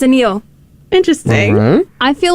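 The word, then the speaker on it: Anil: this person clap forever but it's spelled a-n-i-l but it's a Neil interesting I feel like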